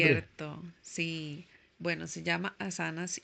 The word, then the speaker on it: asanas: Asanas es, bueno, la palabra correcta es asanas, se pronuncia así porque tiene de hecho como Asanas. un tipo de tilde, digamos.